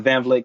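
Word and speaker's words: Van Vleck: Grew up in Van Vliet, Texas.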